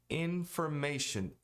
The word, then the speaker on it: information: Information. Os dois N's são pronunciados. Information. I-O-N tem som de E-N. Information. E não information. Se você não pronunciar o N, pronunciar dessa maneira, parece que é ING.